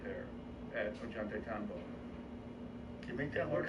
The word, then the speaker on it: Ollantaytambo: Ollantaytambo. Ollantaytambo. How do you spell it? Ollant. Ollant. AY. TAMBO.